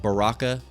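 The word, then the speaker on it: ברכה: And uh the word in Hebrew is pronounced baraka.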